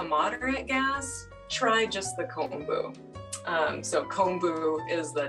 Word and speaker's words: kombu: you spell that oh it is k o m b u kombu just like it sounds okay so when we